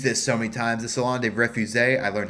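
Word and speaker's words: Salon des Refusés: anymore I've used this so many times the salon refu I learned how to pronounce it correctly so read the whole story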